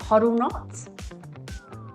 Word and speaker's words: HODLNOTS: So with me today, I have John and Vicki from do you pronounce it huddle knots?